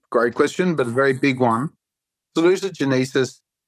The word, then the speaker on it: salutogenesis: a very big one saluted Genesis there's no correct pronunciation it's a word that's written it's like Latin I just call it saluted Genesis but I can call it salute Genesis it is a theory